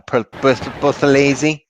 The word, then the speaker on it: Buthelezi: But let me get the pronunciation correct now. Buthelezi.